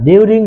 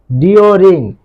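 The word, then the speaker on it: during: না, ডিউরিং না, এর সঠিক উচ্চারণ হচ্ছে ডিওরিং।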